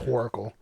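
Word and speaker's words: Whoracle: It's pronounced Horacle. It's like horror and oracle put together.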